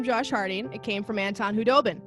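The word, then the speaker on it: Khudobin: It came from Anton Hudobin. The K is silent.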